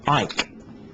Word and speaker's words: Icke: Does he pronounce it Icke or Ike? It's Ike.